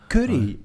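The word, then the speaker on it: Curie: Kuri. Kuri. C U R I E. Curry.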